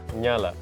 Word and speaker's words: Ngala: Ngala. That NG sound can be quite tough. Yeah. There's no English words that start with that.